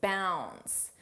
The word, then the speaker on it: bounds: She's she's Let's talk about leaps and bounds. Notice how bounds the D is not pronounced.